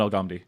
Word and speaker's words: Al-Ghamdi: Yep, the H is silent. Agamdi. Is it D, like D? How's it? I'll try to pronounce it phonetically correctly. You got it? Agamdi? Muhammad Al-Ghamdi. Got it? Al-Ghamdi. Got? Okay, good.